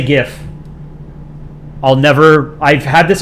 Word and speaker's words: GIF: art I can show it's GIF with a g i pronounce it gif like the Creator I think GIF sounds stupid 31 is a funny